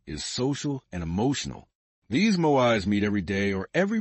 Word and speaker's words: moai: The most extraordinary example of this is the Okinawan moai, pronounced MOI.